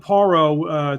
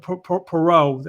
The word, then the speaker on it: Paro: 1 ranked lightweight Liam Paro, 23-0, 14 knockouts, stopped. Previously undefeated Brock Jarvis, who's 20-1 now, with 18 knockouts in Australia, battle of Australians. So look for Liam Perot, actually is how it's pronounced, to get a shot